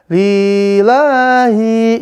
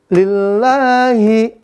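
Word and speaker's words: لِلَّهِ: Li dan hi ini dia pendek, maka jangan dibaca panjang. Jangan sampai dibaca lillahi, jangan ya. Bacanya lillahi.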